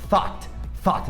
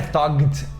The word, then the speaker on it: thought: E quando a gente tem esse GHT, a gente não pronuncia o G, não pronuncia o H, é como se tivesse só um T mesmo. Então fica thought, não é thugged ou nada do gênero.